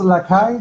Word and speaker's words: Lakay: Hello, it's pronounced Lakay, that's correct?